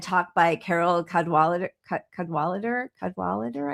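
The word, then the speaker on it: Cadwalladr: Cadwalader I think is how how you pronounce her last name.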